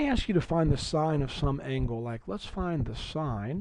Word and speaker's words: sine: be looking at six trig functions today called sign you need to know the um abbreviation for